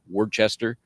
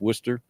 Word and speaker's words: Worcester: You read it, it looks like Wordchester, pronounced Worcester. One of my favorites is P A B O D Y.